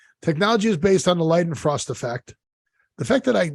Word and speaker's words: Leidenfrost: Technology is based on the Leidenfrost effect. The fact that I know how to pronounce that, it scares me that I know that's correct pronunciation.